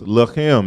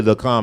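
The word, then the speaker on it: לחם: The Hebrew word for bread is lachem. It's really lacham. It's the same letters. It's just pronounced differently because of the vowel points.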